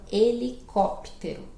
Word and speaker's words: helicóptero: Mas no português o H é mudo, né? Esse H inicial é sempre mudo, silencioso. Então, helicóptero. Helicóptero. Tá bom?